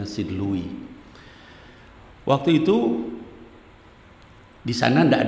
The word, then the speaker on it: St. Louis: St. Louis dibacanya St. Louis.